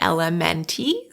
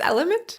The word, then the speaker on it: LMNT: Some people say LMNT, some people say element. I think it's element.